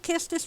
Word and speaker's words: Quistis: Hello, Kistis, who I now know is pronounced Kistis when I thought it was pronounced Quistis.